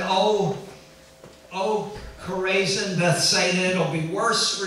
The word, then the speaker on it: Chorazin: And he upgraded the city of Chorazin.